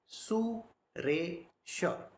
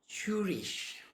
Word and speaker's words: Suresha: If I take one word, now the name of this body is Suresha. Suresha. Alright? But if you ask any foreigner to pronounce it, Shurish, Shurish, the way they pronounce it is wrong.